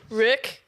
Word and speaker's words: Rewk: Rack, just Rook. Yeah. And this is gonna clear it up. So it's because Rook. I'm too shy to be like, oh. Yeah. It's actually Rook.